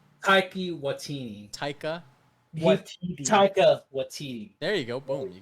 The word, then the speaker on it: Taika Waititi: much, Antoine, who's played by I get his name wrong, Tony. What's his name? Antoine. The guy. Oh, Taika Waititi. Taika Waititi. Taika Waititi.